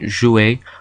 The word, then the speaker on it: jouer: Words that end in ER or ET are pronounced A, like in jouer or ballet.